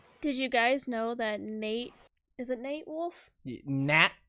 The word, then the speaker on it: Nat: is it nate it's nate wolfe yeah that prepares i get what it says but that's how he pronounces it yeah go ahead that